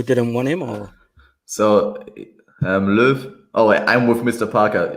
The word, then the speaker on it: Löw: Because Mats Hummel, is he made himself available, or was it just that Low didn't want him? Or so Löw. Oh, I'm with Mr. Parker. Your pronunciation was great, Gav.